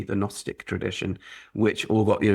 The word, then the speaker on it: Gnostic: Christian Gnostic tradition although you're not supposed to pronounce the G the Gnostic tradition which all got